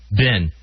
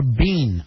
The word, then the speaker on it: been: you pronounce that one ben i say ben also but that's b-i-n if you spelled it out like a potato bin it should be more bean i guess but i